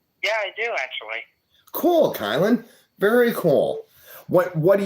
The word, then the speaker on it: Kylin: how you doing uh sorry it's k y l i n sorry people get my name mixed up kylin okay totally cool did I say it right that time yes excellent kyl I said